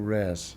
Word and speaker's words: rows: All the college streets were called rows or rares, as us used to pronounce it.